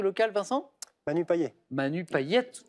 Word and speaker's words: Payet: Manu Payette. Enfin, on prononce Payette. à la réunionnaise, on prononce le T final, mais c'est ça.